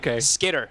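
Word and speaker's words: Skiter: I keep saying sker and I make you say sker and I'm so sorry everybody. Skitter. All right. I'm going to say it right today cuz I say it wrong every single day.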